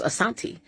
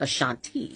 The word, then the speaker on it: Ashanti: uh which was Asanti and some of the tribes pronounce it Ashanti.